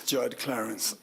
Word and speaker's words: Judd Clarence: And then Clarence, since you're, no, excuse me, I'm pronouncing it wrong. It's Judd Clarence.